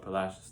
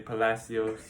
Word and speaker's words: Palacios: town about two hours up the coast called palacios texas small town you see how he pronounces it he pronounces it correctly that's right a lot of people say palacios but that's how the locals say it how